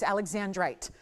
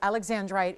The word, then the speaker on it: Alexandrite: This is Alexandrite. So Alexandrite is the proper pronunciation.